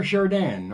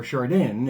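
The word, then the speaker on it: Chardin: Pierre Shardan or Shardan if you want to say it's C H A R D I N.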